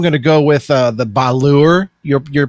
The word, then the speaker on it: Batur: But I'm going to go with the Balur, your pronunciation there. I think it's Batur. Batur. That's my best guess.